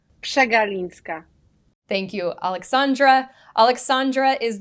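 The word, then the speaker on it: Przegalińska: name uh but her last name is actually pronounced chinska thank you Alexandra Alexandra is the senior research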